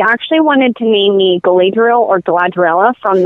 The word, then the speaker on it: Galadriel: bit easier than blender illa glad triela or Galadriel is how it was pronounced in the in the book Wow and